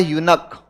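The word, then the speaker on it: eunuch: Word और जान लो इसमें ई यू एन यू सी एच इसका का उच्चारण होता है यूनक।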